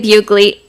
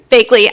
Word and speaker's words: Bagley: Outlier Construction was founded 7 years ago by Rob Mayers and Ryan Bugley. I'm sorry, I mispronounced his name. Bagley, I'm so sorry.